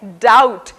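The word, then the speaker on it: doubt: और चौथा उदाहरण है डाउट, जिसमें B साइलेंट है।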